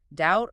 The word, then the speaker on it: doubt: Well, we also have the sneaky B, H, and P. Sneaky. They pop up in places like doubt or hour or psychology.